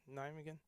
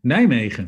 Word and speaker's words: Nijmegen: Nijmegen? Sorry, Nijmegen.